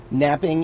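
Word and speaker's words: knapping: Pronounced just like it would be pronounced without the K.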